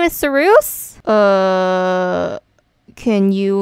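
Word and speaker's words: Cereusye: Hi, my name is Sarus. Can you like spell that? Sure. C-E-R-E-U-S-Y-E. Sarus. Isn't that Saruse? It's pronounced as Sarus.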